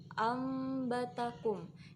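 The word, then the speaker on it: أنبتكم: Jadi langsung masuk ke mim, ambatakum. Biasanya di dalam Al-Quran itu ada mim kecil di atas nun sukun. Jadi nun sukunnya tidak terbaca, namun kita membacanya menjadi seperti mim, ambatakum, menjadi mim, ambatakum.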